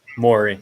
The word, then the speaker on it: Morey: Morey, yeah.